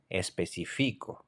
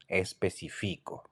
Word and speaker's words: especifico: So, for example, when I say I specify, I would say especifico, especifico. So, can you see that the stress is in the FI syllable? Especifico, especifico. So that means that I specify, and even though the I has no tilde, the stress is there.